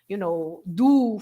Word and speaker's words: do: Even in little words like these do, for example, of the, you have to pronounce the O at the end as U.